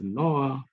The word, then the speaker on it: Noir: It's pronounced as Noir.